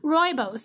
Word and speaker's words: rooibos: tea rooby-roo bose tea rooibos I think is the way that someone told me that it's pronounced cinnamon chips Apple pieces